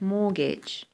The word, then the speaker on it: mortgage: housing and uh so what is this it's mortgage Mort so we spell it with to as I said but it's